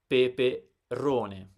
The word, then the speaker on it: peperone: Peperone. So the stress is on the penultimate syllable.